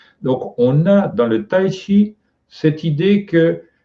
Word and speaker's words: Tai Chi: Chi cette idée que je prononce Chi parce que c'est la prononciation chinoise ancienne. Mais actuellement, on a tendance à prononcer Tai Chi, c'est-à-dire pas Ki avec le K, mais Tai Chi.